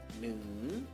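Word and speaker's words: หนึ่ง: Jadinya neng, neng, tapi belum selesai, ada tanda baca, yaitu my egg. Oke, jadinya ho hip atau kelas tinggi ditemukan dengan my egg akan menjadi siang egg. Jadi bacanya neng, neng, turun ke bawah ya, neng, neng, oke, nadanya turun, atau siang e, artinya 1.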